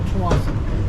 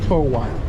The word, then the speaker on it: Tsawwassen: How do you pronounce the name of the ferry terminal? Ferry terminal Tsawwassen. Tsawwassen. Tsawwassen. Again, it's Tsawwassen.